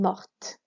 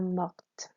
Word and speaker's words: mortes: If they died and they are all female, elles sont mortes. Feminine E, plural S. Notice here how the feminine E makes us pronounce that T. Ils sont morts, elles sont mortes.